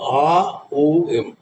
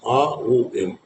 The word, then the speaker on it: Om: So A O M. So the மூன்று is made up of the 3 syllables. A, open your mouth. O, close your mouth. Release through your nose. A O M.